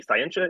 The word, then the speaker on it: Scientia: It's just a hard T in Scientia.